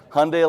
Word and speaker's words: Hyundai: brand in in America it's Hyundai like Sunday we say that every time we brief an influencer Hyundai like Sunday so I'm